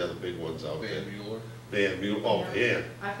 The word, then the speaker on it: Mueller: I mean, Van Miller, it's by the way, if you want, it's really Van Mueller, but that's the way it's spelled.